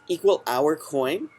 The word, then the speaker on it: =hour.coin: So this is equal hour coin. That's how I kind of pronounce it, and I capitalized the letter O because it's hour coin.